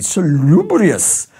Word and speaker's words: salubrious: Ooh, that's just fun to say, salubrious. That's how you pronounce it, you don't have to use that exact intonation, but salubrious means something that is healthy, health-giving.